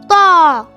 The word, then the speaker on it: ط: It sounds like the English word paw, so we read it ta.